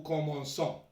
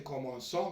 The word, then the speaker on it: commençons: Tout à l'heure on a vu le verbe commencer, c'est la même chose, toujours le nous commençons. Pour prononcer commençons, donc on a ajouté la cédille.